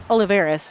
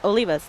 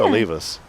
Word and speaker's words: Olivas: So that's when I tell people how to pronounce it, I'm like Olivus. Like oh leave us alone. That's it's easy. It's Olivus. O L I V A S. O leave us.